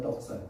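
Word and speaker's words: δόξα: 영광은 헬라어로 덕사라며 덕사. 발음 중에 생각하죠. 뱀 독사라니까 헬라어의 발음이 덕사라고.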